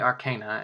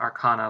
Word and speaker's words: Arcana: say Arcana and not Arana like a lot of people say or Arcana um I mean the word is based on the word Arcane so I like to say you know the correct way but I will you